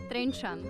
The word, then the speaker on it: Trenčan: It is called Trenčan. Trencia.